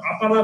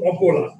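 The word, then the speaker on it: অপলা: ঠিক আছে, কাজেই ভুলে কেউ আবার আপালা বলেন না। ঠিক আছে, উচ্চারণটা কিন্তু আপালা নয়, উচ্চারণটা কিন্তু অপোলা।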